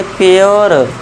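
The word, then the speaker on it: pure: तो इसे हम पढ़ेंगे प्योर। इसे पढ़ेंगे श्योर। है ना? पूरी मत कर देना। श्योर मत कर देना। प्योर श्योर। यह हमारा आपको पता है ई साइलेंट रहता है।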